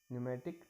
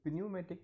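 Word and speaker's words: pneumatic: Rollers, ship foot rollers, न्यूमेटिक tyre roller, ये PNEU न्यूमेटिक, इसको न्यूमेटिक बोलते हैं, न्यूमेटिक टायर रोलर। ये प्न्यूमेटिक नहीं बोलते, इसको न्यूमेटिक टायर रोलर ही बोलते हैं। ओके, इसमें P साइलेंट होता है।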